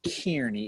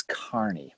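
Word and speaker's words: Kearny: just so you know it's not tierney it's kearney by the way [ __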